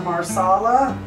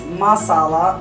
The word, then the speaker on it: masala: have our Bowl here our marsala I'm sorry it's Masala I always pronounce it wrong white pepper cumin cinnamon